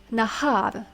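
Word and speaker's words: נָהָר: The next noun is nahar. Nahar. Nahar means stream or river. The next word is na'ar. Na'ar. Na'ar means lad or young man. Notice how the accent falls on the first syllable.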